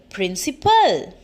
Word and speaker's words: principle: l e principle so both the words we have to pronounce same but their spellings and their meanings are different when we are talking